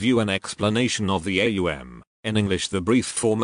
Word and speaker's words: aum: The right use in Hindustani is aum. Therefore, we will consider it in this light. A is a guttural sound. As you pronounce it, you will note it starts in the throat. To pronounce U, the lips must be thrust forward. M you will note is formed by pressing the lips together causing a resonant tone like the humming of a B.